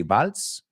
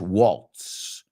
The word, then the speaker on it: waltz: called Take This Waltz you say bals take the we say in English Waltz Waltz take this Walt it came out in the year 2011.